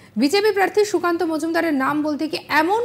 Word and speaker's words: মজুমদার: এদিনের সময় রাজ্য বিজেপি সভাপতি ও বালুরঘাটের বিজেপি প্রার্থী সুকান্ত মজুমদারের নাম বলতে গিয়ে এমন উচ্চারণ করে বসলেন যা শুনে একেবারে সবাই অবাক। সুকান্ত মজুমদার নাম বলতে গিয়ে বলে বসলেন সুকান্ত মজনুদার।